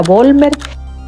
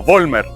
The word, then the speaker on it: Vollmer: Y la V se pronuncia como una F. Pero indistintamente se puede decir también Vollmer.